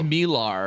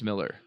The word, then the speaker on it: Millar: And I think it's Millar or some shit like that too. I don't think it's Miller.